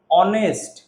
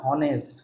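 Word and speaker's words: honest: কিন্তু এইচ এর উচ্চারণটা এইচ এর মত আসছে না।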